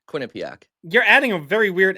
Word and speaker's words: Quinnipiac: like you said it like nip, like in the middle.